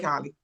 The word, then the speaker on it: Holly: Take it away, Holly. Thank you so much. Good day. I'm Holly, pronounced like hallelujah.